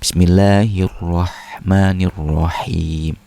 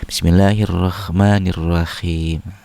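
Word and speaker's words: بسم الله الرحمن الرحيم: Nah, harusnya kan itu hanya ha kosong. Bismillahirrahmanirrahim. Nah, dia haknya itu kayak sedikit naik ke atas, rahim. Bismillahirrahmanirrahim. Harusnya lebih dikosongkan lagi supaya hanya ke bawah, ar-rahim gitu ya.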